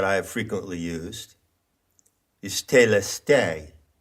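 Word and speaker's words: telestai: one of those words is telestes now that is an anglicized pronunciation of the greek word that word is plural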